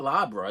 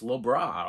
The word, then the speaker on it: Lorber: I'll put the thing up there because sometimes I don't pronounce it properly, and people go, it's not Labra, it's Lobra, or Labria, or Labra, whatever.